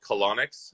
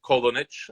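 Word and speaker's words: Kolonics: And I know the bottle, the producer, looks like it's spelled Kolonix, but it is Kolonich, if you wanted the proper pronunciation.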